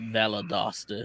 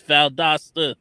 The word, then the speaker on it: Valdosta: to on the regular calls it Valadosta. It really burns the living hell out of me when they say it like that. Like, why are you coming up with extra letters? It's Valdosta.